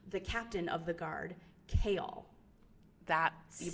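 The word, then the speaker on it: Chaol: happens to be the captain of the Guard kale that's you pronounced correctly AOL kale yes Westfall and oh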